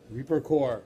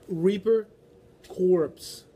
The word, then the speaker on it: Reaper Corps: two legs we have Reaper core Reaper corpse corpse is I know but this piece island is pronounced core Reaper core like the Army Corps I see Marine Corp